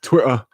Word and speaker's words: Twitter: Don't pronounce any of the letters in the middle. Just say the word as you says it. Twitter.